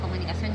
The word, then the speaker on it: comunicación: Oh, comunicación lleva así. Separamos en sílabas, ¿verdad? Comunicación, ¿verdad? Vamos a pasar a la palabra comunicación. Comunicación. Entonces, ponemos el acento en on.